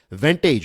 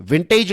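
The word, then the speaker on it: vantage: हैं राइट इसको special वेंटेज right जो स्पेलिंग है वेंटेज का इट इज वी ए एन टी ए जी ई विंटेज नहीं है वेंटेज है वेंटेज का मतलब ये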